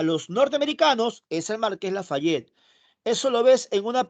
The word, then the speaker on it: Lafayette: Se escribe Lafayette, se pronuncia Lafayette.